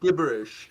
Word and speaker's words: gibberish: No, it's pronounced gibberish. Gibberish. No. J, is it? The J sound, right?